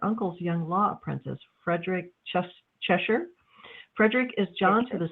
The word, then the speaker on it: Cheshire: How do you pronounce his name? Cheshire.